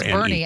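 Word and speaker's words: Boerne: I don't know how to pronounce it. B O E R. Bernie, actually.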